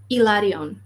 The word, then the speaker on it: Hilarion: of his name but he would say ilarion that's how he's pronouncing it but again it might